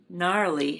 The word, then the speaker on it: gnarly: Gnarly has a silent G."